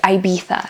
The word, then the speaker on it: Ibiza: to an island in the Mediterranean that's called Ibiza, or Ibiza, as the British say it.